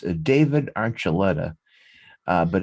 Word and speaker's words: Archuleta: listen the next name i know how to pronounce david archuleta uh but it's only because i've heard the